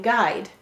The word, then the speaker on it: guide: Many times we might wonder, why is there a U in guide? Why is it only one syllable? This is the multi-letter phonogram G, Gwa. And here it's saying G, G, I, D, guide.